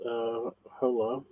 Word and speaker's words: hola: Lorena says, hola. I know it's Ola, but I'm going to read it as it is spelt in English because I can't really speak other languages.